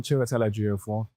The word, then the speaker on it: Chiwetel Ejiofor: Hi, I'm Chiwetel Ejiofor.